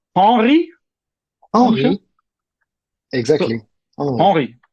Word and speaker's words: Hanry: Hanry, not Yeah. Henry, but Hanry. Henri.